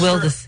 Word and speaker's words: Wildes: I pronounce it as Wildis.